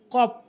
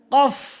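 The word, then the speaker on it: قاف: কফ ভুল উচ্চারণ, কফ ভুল উচ্চারণ, কফ সঠিক উচ্চারণ, কফ সঠিক উচ্চারণ। জিহ্বার গোড়া উপরে তালুর সঙ্গে লাগাবেন, জিহ্বার গোড়াটি নিয়ে তার বারবার উপরে তালুর সঙ্গে লাগাবেন, কফ কফ সঠিক উচ্চারণ, কফ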